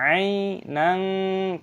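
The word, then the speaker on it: عَيْنًا: Di sini ada ya yang berharokat sukun dibaca ainang, fathah tanwin bertemu dengan fa dibaca ikhfa. Ikhfa itu artinya samar, jadi cara bacanya disamarkan.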